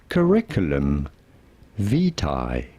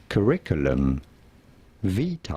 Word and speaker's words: curriculum vitae: How do you go about pronouncing it in English? Curriculum vitae. Curriculum vitae.